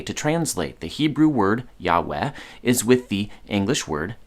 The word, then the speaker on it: Yahweh: christian religion is that we don't know for sure how to pronounce the name of our own god good evidence suggests it should be yahweh but good evidence is